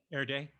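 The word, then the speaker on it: Erdély: with uh matches erdelli how do you pronounce his name late or air day air day thank you matias um who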